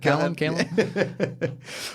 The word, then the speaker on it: Calum: How do you pronounce it? Calum.